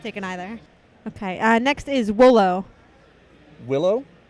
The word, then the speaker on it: Wolo: Next is Wolo. Willow? Wolo. Rolo? Am I pronouncing that correctly? Rolo. W-O-L-O. Judge Deere is stumped. Voltron Force. Wolo. One more time? Wolo? Wolo.